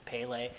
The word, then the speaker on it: Pale: twitter and stuff with the correct pronunciation it's pele just like the soccer player yeah see i say